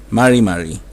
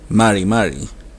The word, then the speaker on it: mari mari: saludo para saludar decimos marí marí es como decir hola la r no es como la del castellano no es la r de caro ni la ere de carro es otro sonido es una r según